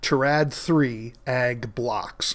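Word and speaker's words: Terad3 AG Blocks: product, which was specifically Terad-3 ad blocks. So let me repeat that again because I mispronounced it. Terad-3 ag blocks.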